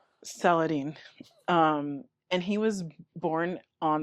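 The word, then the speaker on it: Salahuddin: So, the two main creators of the show are going to be Bashir, and I'm going to try to pronounce his last name correctly. It's Saladin.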